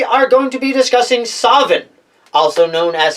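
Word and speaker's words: Samhain: memory of those times I remember the word pronounced sovereign with a V with a W end of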